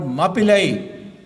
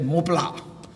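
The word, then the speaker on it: Mappila: therefore they were called Mapillai. And Mapillai means bridegroom, and the British called them Mapillai. They couldn't pronounce Mapillai, so they said Mopla.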